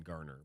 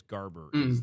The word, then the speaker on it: Garber: And I think I said, is it Dan Garber? I think I might have said Dan Garner, but I think it's Garber is the actual way you pronounce the commissioner's last name.